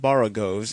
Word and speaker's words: borogoves: Again, the first O in borogoves is pronounced like the O in borrow. I have heard people try to give it the sound of the O in worry.